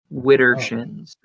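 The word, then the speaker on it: widdershins: wrong direction oh hmm yeah like uh it's it's spelled w-i-d-d-e-r-s-h-i-n-s witter shins yeah yeah for the update thing okay so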